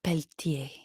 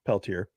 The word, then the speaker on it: Peltier: I was so worried about saying her last name right that I said Peltier. But it's not. It's Peltier.